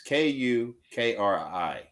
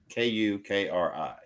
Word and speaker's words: kukri: But that's not how it's spelled. It's k u k r i k u k r i kukri kukri.